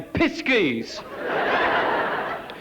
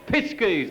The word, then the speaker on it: Pisces: I can always say Piskies. Oh, no. No. I think you'll find that's pronounced Pisces. No, it's Pisces as in off.